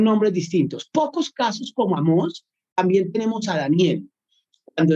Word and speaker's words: Amós: La palabra Amós es claramente hebreo y así, tal cual, sin modificaciones.